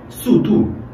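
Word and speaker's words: 速度: 속도는 중국말로 수두. 속도가 빠르다. 수두 很快. 이렇게 수두 很快. 아야, 수두 很快야. 이런 식으로. 수두. 이 뚜도 도 앞에서 배웠잖아요. D가 쌍디귿으로 가장 많이 발음된다. 그래서 뚜.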